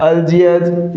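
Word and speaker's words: Algiers: फिर नीदरलैंड्स फिर अल्जियर्स। इसके अंदर आर क्या रहेगा साथियों? साइलेंट रहेगा।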